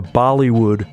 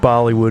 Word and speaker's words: Bollywood: y w o d rhymes with Hollywood uh the Hound posted